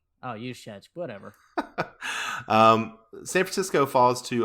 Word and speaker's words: Juszczyk: And Yediditsky, their fullback, recovered and got down to the 2. What a terrible pronunciation of that name for you. I can't say names. I know. It's Juszczyk. Oh, Juszczyk.